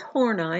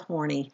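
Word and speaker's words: Horney: were entirely different with horn I and I know it's spelled horny but its horn I okay don't laugh too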